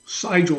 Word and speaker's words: Sigel: Uh I call Sigil Sigel not Sigil because of the German pronunciation but whatever way he pronounces it um was at the undergrad level.